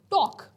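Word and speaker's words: talk: टॉक, एल के अंदर, टॉक के अंदर एल क्या है, वो साइलेंट है।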